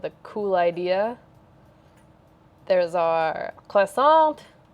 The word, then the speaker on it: croissant: There's our croissant. Croissant. Sorry, you don't pronounce the T, right?